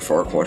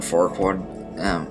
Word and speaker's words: Farquaad: they named him Lord Farquaad as a dirty joke, because if you say his name over and over again, it comes out really dirty and everything, and it rhymes with Duckwad.